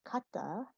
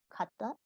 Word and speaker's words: kata: And I'm going to run through this list for pronunciation. So starting with kata, you can repeat after me if you'd like. So kata, kata, ki, ki, ki-ai, or kakegoe.